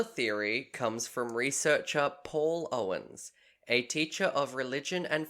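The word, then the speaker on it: Eoghan: other than that the child's name was owen which i had to look up how to pronounce because it's e-o-g-h-a-n yeah owen makes complete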